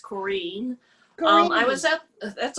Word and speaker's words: Corinne: and the haha in north hollywood please welcome corinne hey it's actually pronounced korean um i was that that's okay i was